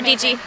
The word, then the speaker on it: Dietschy: Sarah DG, rhymes with peachy.